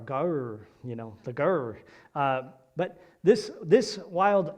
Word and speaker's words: gaur: It's spelled G-A-U-R, gaur, the gaur.